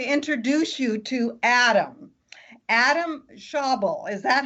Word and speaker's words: Schaeuble: Adam Schaeuble. Is that how you pronounce it? I was looking that over and I'm going, does that sound right, Adam? It's a tricky one. It's Schaeuble. Schaeuble.